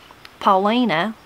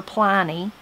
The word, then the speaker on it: Paulina: Paulina, they called her Pliny, Pliny.